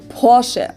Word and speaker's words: Porsche: heard america or porsche in german we say porsche so there's like this short a sound so you know like